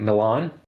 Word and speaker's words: Milan: Um, we meet Milan, who for now I shall pronounce like the city.